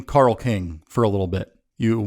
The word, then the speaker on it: Carl King: spell it out because inevitably the person will say carlin or carlin i've also had more